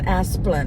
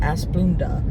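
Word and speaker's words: Asplundh: doing tree work okay a lot of people don't know how to pronounce that it's asplin not as blunda yeah so there I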